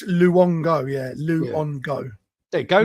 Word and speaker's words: Luongo: It's Luongo, yeah.